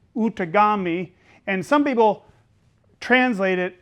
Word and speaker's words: Outagamie: And that is originally, it's pronounced Outagamie.